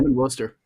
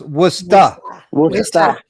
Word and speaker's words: Worcester: you from me yeah Wooster Worcester Mass yep right right in the middle of the state okay no it's pronounced was stuff Worcester where's that I'm going